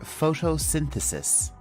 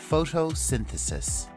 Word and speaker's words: photosynthesis: the and finishing with CIS and Al together photosynthesis one more time photosynthesis so let's move on and look at a